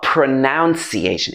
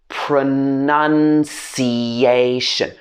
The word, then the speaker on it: pronunciation: to correct me so it's not pronunciation it's pronunciation pronunciation pronounce but this longer word is pronunciation none in the middle pronunciation the next one is